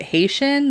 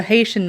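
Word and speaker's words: Hessian: i think i think you pronounce it haitian like h-e-s-s-i-a-n but he witnessed a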